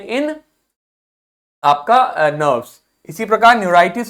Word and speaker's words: न्यूराइटिस: इसी प्रकार न्यूरॉन्स यानी नर्व्स में आपके इन्फ्लेमेशन यदि होता है तो वो हो जाएगा आपका न्यूराइटिस। ठीक, तो आप प्रोनाउंसिएशन किताब में देखोगे तो लिखा हुआ है न्यूराइटिस, न्यूराइटिस, न्यूराइटिस, न्यूराइटिस।